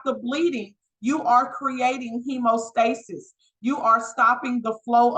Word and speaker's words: hemostasis: It's pronounced hemostasis.